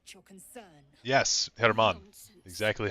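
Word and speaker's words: Germán: He spelled like German, but you don't say it German. You say it Herman.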